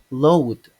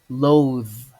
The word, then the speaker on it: loathe: The second word, some people mispronounce it as in load, but it's actually loathe, loathe.